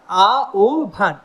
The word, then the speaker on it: আহ্বান: আহ্বান, আ ও ভান। আমরা উচ্চারণের ক্লাস যেটা নিয়েছি ইউটিউবে তোমরা দেখতে পারো, উচ্চারণের ক্লাস ওইখানে আছে, তোমাদের সুবিধা হবে, তোমাদের অসুবিধা হবে না।